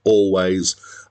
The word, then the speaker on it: Alvvays: two v's in the middle but apparently it's pronounced always and they spelled it differently because there was